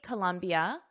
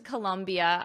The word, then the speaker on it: Colombia: I've been to Colombia. I know how to spell it. Colombia is with an O, but the pronunciation is exactly the same.